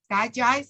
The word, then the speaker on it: DiGize: question oh okay sorry so that digize die guys that's how you say it so they say if